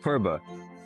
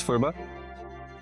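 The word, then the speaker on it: phurba: They include the use of a ceremonial knife called purba, spelled in English as PH. So some pronounce it as furba.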